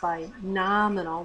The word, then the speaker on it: binominal: reading through this quickly you might think that you read the word word binomial with a long o bomal versus binominal with a short o more of an a sound a binomial is an